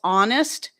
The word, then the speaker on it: honest: Most people pronounce honest, air, as in HEIR, uh, honor, hour. These all start with H's that are silent.